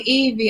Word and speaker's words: Evvie: Hey, it's so funny you call me Evvie. I get it all the time. So what's the actual correct pronunciation of your name?